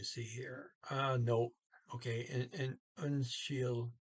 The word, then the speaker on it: Unnskyld: Okay, and unshield, you got a SK before a Y, so it becomes an SH, and it's the harder SH. So unshield, and the D on the end there is not pronounced.